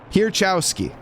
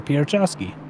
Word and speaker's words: Pierchowski: Pierchowski. That's how I was pronouncing it before, Pierchowski. Great job, Steven. Okay, so we have 6 more pronunciations of Mr. Mason's last name. We're going to go with Pierchowski because that is from the friend himself.